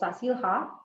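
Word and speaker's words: Zazil-Ha: okay um I am in this neighborhood called sasila um that's how it's pronounced okay I'm not going to go to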